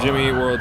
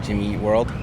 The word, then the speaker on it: Jimmy Eat World: Do you emphasize eat? I think I emphasize eat, Jimmy Eat World. Or is that world? I don't know. It's a light emphasis on eat, majority on world.